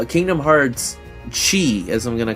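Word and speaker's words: Kingdom Hearts χ: ] am I saying Kingdom Hearts Chi as I'm going to call it had like in in Brackets it had Chi telling you that's how you're supposed to pronounce it or like it in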